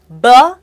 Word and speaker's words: baloney: one balone pronounced as Boni the stress is on the second syllable say it once again B excellent so baloney is a casual way